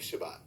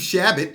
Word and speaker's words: Chabot: now first of all listen to how he pronounced this guy's name he says congressman Steve Shabbat in fact nah I'm from Ohio I know who congressman Steve Chabot is but Donald Mullen called him Steve Shabbat okay but watch this